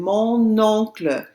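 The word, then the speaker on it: mon oncle: my sister my uncle notice how i pronounce that n mo no that's because the o starts with a vowel so i have to pronounce the n in front of it excellent how about my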